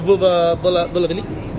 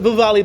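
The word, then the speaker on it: Vuvale: The Oh, the Vulavili? Well, yeah. That was probably racist how you pronounce it. No. Wow. No, it's a Vuvali Bowl. Vuvali Bowl. I checked the pronunciation.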